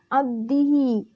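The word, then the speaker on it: عبده: Lalu selanjutnya lafaz abdihi. Hukumnya ialah qalqalah sugro. Nah, di sini qalqalah sugro. Kenapa? Karena huruf qalqalah ba berharkat sukun dan posisinya di tengah kalimat. Cara membacanya pun dipantulkan secara ringan. Abdihi.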